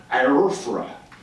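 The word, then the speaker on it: AIRFA: It took something called the American Indian Religious Freedom Act, IRFRA. That's the correct pronunciation.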